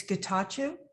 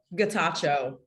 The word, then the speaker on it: Getachew: i was mortified about it's guitar guitar guitar okay thank you i will not make that mistake again guitar sorry could